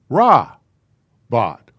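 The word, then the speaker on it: רבות: I don't remember why it says poetic form for many, but this is pronounced very much like Shabbat. It's Ra-Bot.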